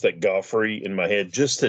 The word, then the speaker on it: Geoffrey: As far as I know, it's pronounced Jeffrey. But what's funny, he spells it Geoffrey. I've always pronounced that Goffrey in my head just to differentiate in my head, so I keep it straight.